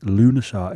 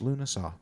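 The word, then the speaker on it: Lughnasadh: found that this is how you pronounce it lunaa it's spelled l u g h n for November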